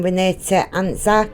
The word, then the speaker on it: Antczak: i want to discuss missing renee anzac and that's how you pronounce it she's 49 years old